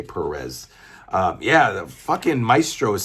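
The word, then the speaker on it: Pérez: I don't care if that's not how Spanish people pronounce it. I'm American. We say Perez.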